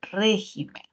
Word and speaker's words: régimen: y regimen no existe solo existe régimen mientras que en el plural si existe regímenes porque la sílaba tónica se ha movilizado solo en el plural a veces vienen estas